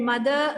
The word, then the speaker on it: mother: Mother, R is silent.